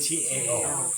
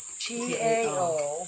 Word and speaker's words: Tao: T-A-O. T-A-O. But with a D. No, T. I know, You but say it it's with a D. pronounced Tao. It's pronounced with Kind a of D. a soft T.